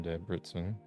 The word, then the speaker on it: Debrecen: And the C there is pronounced like the TS in nets.